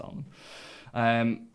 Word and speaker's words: Alnham: But it sparked a bit of panic in me because I'm like, have we been pronouncing this Alnham when it's actually Annam, but it's not, it's Alnham.